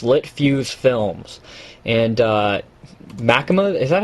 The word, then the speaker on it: machinima: Sorry, I was just going to say, somebody told me that it's pronounced machinima, similar to cinema.